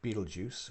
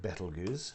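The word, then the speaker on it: Betelgeuse: shoulder of orion star beetlejuice or betelguz depending on how you're going to be pronouncing it is apparently much closer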